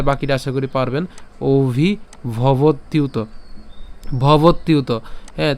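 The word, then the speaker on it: ভবত্যুত: ভবত ইউত ঠিক আছে ভবত ইউত তাহলে একসাথে উচ্চারণ করলে ভবতিউত আমরা একসাথে উচ্চারণ করব ভেঙে এত ভেঙে উচ্চারণ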